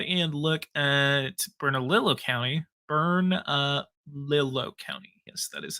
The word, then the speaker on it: Bernalillo: Bernalillo County.